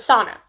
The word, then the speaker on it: Sana: characters so sana i every time i say her name i'm like i think i'm like talking about like a sauna like a like a steamy room okay but sana that's we're gonna say her name like that okay so why i